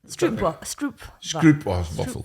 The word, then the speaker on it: stroopwafel: They're strout waffles. How do you say them? Stroopwafel.